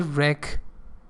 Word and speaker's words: wreck: for their wreck so there was a wreck W is not pronounce or damage it means